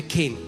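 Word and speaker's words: חן: पुराने नियम में जो शब्द फेवर के लिए है वो है केन। इस सी एच ई एन बट it's pronounce S केन।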